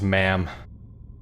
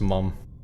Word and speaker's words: ma'am: I don't know but if you were American it would be pronounced ma'am perhaps Faith plays a more important role here but Simone is English so it's pronounced mom I'm surprised it is